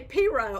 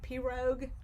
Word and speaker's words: pirogue: So yes, in North Louisiana, we say Piro. I'm pretty sure they say it that way in the South. I've heard people pronounce it pirogue.